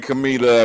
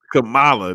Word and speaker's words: Kamala: We'll bring Camila up in a minute. Kamala, nigga, say her name right. This nigga said Camila.